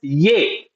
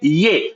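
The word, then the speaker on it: ये: The Hindi word for this is yay. Okay. Yay. Now this is spelled as y her.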